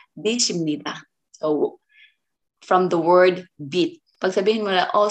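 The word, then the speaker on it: 빗: It's not bis, guys. Okay, remember? Kasi maraming mga nagtuturo na yung pronunciation is sinusunod nila yung kasi S ya, so ang nagiging pronunciation nila is bis.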